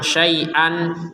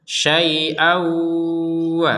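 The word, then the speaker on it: شيئا: Ini juga sama, syai'an dibaca syai'a, 2 harokat. Kenapa? Karena kita tidak menggabungkan kepada huruf waw di sini. Jadi tanwin bertemu waw, maka kita membacanya syai'aw ketika digabungkan. Ketika tidak, maka menjadi tanwinnya ini dibaca dua harokat. Syai'a, jadi panjangnya dua harokat.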